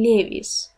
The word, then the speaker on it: Levi's: Тейлор тут упоминает американскую компанию и произношение Levi's, не Levi's, Levi's.